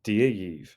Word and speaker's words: Dia dhaoibh: If you're speaking to a group of people, you can say dee-ah yeev, which means hello to you all.